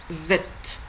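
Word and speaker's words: ב: Sans dagesh, il se prononce vet. Comme dans vêtements en français.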